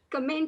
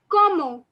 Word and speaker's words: comment: over there is not comment in french but it is pronounced as como como so the nt is not pronounced como and it literally